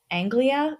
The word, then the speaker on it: Anglia: The name is spelled very weirdly. It's Angli. Anglia?